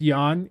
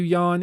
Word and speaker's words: Jan: it's the same thing it's pronounced Jan yeah that's what I thought yeah but I didn't want to call you yawn if your name's actually like Jan you know I'd like